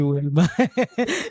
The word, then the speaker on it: Wilma: When I say one, I heard the name, I thought they were mispronouncing the name, they incorrectly pronouncing the name, and and also when I saw you, I thought this must be Vilma. Definitely, it can't be Wilma, right? And when I said Vilma, you said no, I'm not Wilma, I'm Wilma.